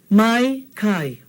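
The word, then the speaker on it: maikaʻi: Now without the okina, you see what happens? It comes out to mai kai. Doesn't mean anything. mai kai, okay? But here, when we put in the okina, it separates these two vowel sounds so that we have a clear kai, mai kai.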